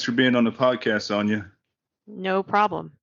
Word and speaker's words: Sonia: in there but it's Sonia Sonia you got it rhymes with lasagna make sure you get